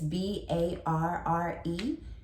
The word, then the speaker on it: barre: It's B-A-R-R-E with the accent. That's actually bar. So in English, we would spell it B-A-R, but for French and in ballet, it is barre, B-A-R-R-E.